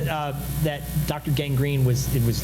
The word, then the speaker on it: Gang Green: Um and which is spelled G R E N. And Fox kept getting it wrong because it didn't understand it was a pun was not gangrine the disease didn't matter, right?